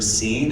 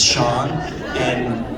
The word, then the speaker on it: Sean: I think so, but I was at a restaurant recently and the waiter's like, so this order is for Scene? And I'm like, it's Sean. And he's like, no, it's Scene.